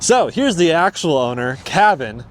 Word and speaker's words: Caven: here's the actual owner Cavin not Kevin Cavin I even get my